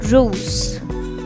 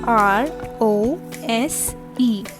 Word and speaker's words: rose: all right what is pink called in french rose r o s e rose what is orange called in french orange